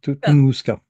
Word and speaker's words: Tunguska: Toun Oui, Tunguska. Oui, j'adore, il fait prendre son temps de notes. Oui, Appelle-moi professeur Antoine. professeur Antoine. On accentue sur la deuxième syllabe.